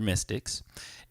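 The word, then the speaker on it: MY5TC: But it's like MY5 TC, right? But it's pronounced Mystic, and because we're into mysticism, Yep. and we're mystics, and yeah, man, got a new project.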